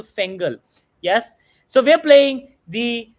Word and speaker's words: Fengal: And you all should somehow hold on to that patience, just like the Fengel cyclone or Fengal cyclone. Multiple pronunciations, proper nouns. I'm going to stick to Fengal.